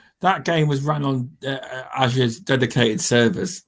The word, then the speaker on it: Azure: game was run on Azure's dedicated servers. Apparently, that's how you say it, Microsoft. Azure dedicated servers, and a lot of the game was offloaded onto the cloud.